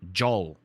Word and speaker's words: jol: And you pronounce it exactly as you see it. Jol, right?